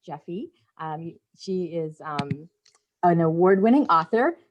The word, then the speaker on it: Jeffe: So maybe she'll talk, So something I learned about Jeffe, first of all, her name is pronounced Jeffe.